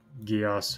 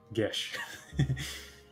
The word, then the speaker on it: Gesh: I guess it's not Gios or Gius or whatever. It's Gesh.